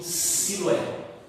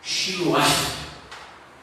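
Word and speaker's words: שילוח: Na nossa Bíblia está escrito Siloé. Nem esse está escrito aí na tua Bíblia? Siloé. Shiloah. A pronúncia em hebraico.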